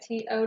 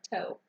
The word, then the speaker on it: to: follow the rules ok t/o does not follow the rules that thorn is to not toe ok another non example